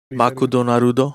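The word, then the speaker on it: マクドナルド: That's how that's how you say it in Japanese. Okay. Makudonarudo.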